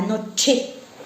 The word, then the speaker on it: noche: Le CH en espagnol, on le prononce ch. La noche.